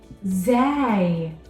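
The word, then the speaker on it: زاي: this letter is called Zai Zay Zay it makes a sound Za z z in this letter is similar to the sound of the letter z in English now for the next set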